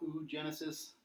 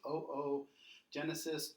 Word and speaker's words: oogenesis: So remember, in Latin we pronounce every vowel, so it's not oogenesis, you pronounce both O's, so it's oogenesis, oogonia, oocytes.